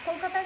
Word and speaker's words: Kolkata: in calcutta or kolkata kolkata is the right pronunciation they change it to